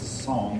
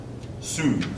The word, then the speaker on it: Song: tang and the uh um I want to pronounce it song but that's not the way it's pronounced um soon soon okay soon all right again it's not